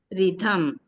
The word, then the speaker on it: rhythm: See the th and m between th and m we have to say rhythm will give the sound of a between th and m in the word rhythm. How to pronounce it? Rhythm.